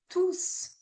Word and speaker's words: tous: Et voici les solutions avec le S qui est non prononcé quand c'est un adjectif ou le S prononcé quand c'est un pronom. Par exemple, tous les élèves sont arrivés à l'heure.